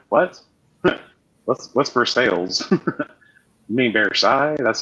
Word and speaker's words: Versailles: You mean Versailles? That's how it's supposed to be pronounced.